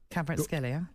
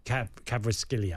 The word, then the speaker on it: Kvaratskhelia: I always get his name wrong, so Kvaratskhelia. Kvaratskhelia.